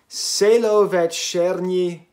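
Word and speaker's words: Čelovečernji: This year I reviewed, okay, how do I pronounce this damn thing? Celovecernji the Kid.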